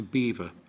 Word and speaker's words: Belvoir: This all got down to the villages, the surrounding villages, who had been defeated and they couldn't pronounce the strange-sounding Belvoir. So, it was corrupted to Beaver and it's been Beaver Castle until since approximately 1215.